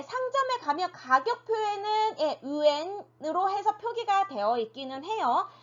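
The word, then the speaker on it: 元: 그런데 이 yuan, 角 같은 경우는 거의 뉴스나 신문에서만 볼 수 있고요. 네, 상점에 가면 가격 표에는 yuan으로 해서 표기가 되어 있기는 해요.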